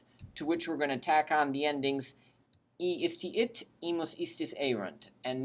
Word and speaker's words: iisti: So the only thing I'd really point out to you is that you really want to separate the two syllables, the two double I's, ii, iisti, iit, iimus, iistis, ierunt.